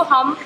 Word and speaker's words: hymn: HYMN, इसको हम हिम पढ़ते हैं, बिल्कुल एग्जैक्टली HIM वाला हिम।